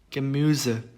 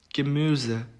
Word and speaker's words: Gemüse: 우음라우트는 발음이 으가 됩니다. 으. 그래서 입 모양은 똑같이 오를 유지를 한 채 발음을 위 한국어로 위 발음을 하시면은 그나마 또 유사한 발음이 될 것 같습니다. 단어로 예시를 살펴보면은 위붕, 위붕, Gemüse, Gemüse 이렇게 됩니다.